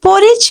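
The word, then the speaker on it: porridge: दलिया को इंग्लिश में पोरेज कहते हैं okay guys this is important hair D will be completely silent the word is पॉरिज दलिया को इंग्लिश में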